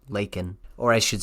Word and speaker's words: Laken: killed in Athens wrong he called her Lincoln her name is Laken or I should say